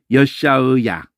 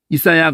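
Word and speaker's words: ישעיה: 아인을 끝에가 있을 때 발음을 안 해버려요. 그러면 안 되거든. 여샤의야 이러거든요. 여샤의가 사라져버렸잖아. 이사야 그러니까 그것도 이사야도 아니고 여사야예요. 여샤야.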